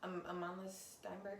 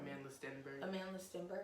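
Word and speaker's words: Amandla Stenberg: But when the movie came out, Amanda Steinberg, I feel like I always say her name wrong. Amanda Stenberg. Amanda.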